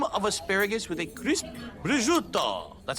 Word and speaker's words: prosciutto: Cream of asparagus with a crisp prosciutto. That's how you pronounce that.